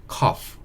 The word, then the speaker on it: cough: 발음하는 거는 cough 이렇게 발음이 돼요. 그래서 GH가 뒤에 있잖아요. 이게 F 소리를 낸다라고 보시면 되는 거고요. COU 이 부분이 cough 이 소리가 난다고 보시면 됩니다.